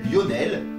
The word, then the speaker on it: Lionel: En revanche, lorsqu'on est en présence d'un digramme IO, comme avec Lionel, on prononce chaque son séparément. D'abord le I, puis le O.